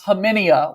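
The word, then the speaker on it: Khamenia: Then you've got Shelton Henderson and Nicholas Haminia. We learned the pronunciation there from him at Nike Hoop Summit this year. The K silent there.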